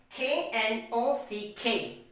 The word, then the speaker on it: knock: there is another k and that comes before the letter n so k becomes silent now the next example we have is what k n o c k knock k n i